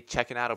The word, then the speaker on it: Cecchinato: Italian followers, have taught me how to say Cecchinato properly. So I think I'm saying Cecchinato.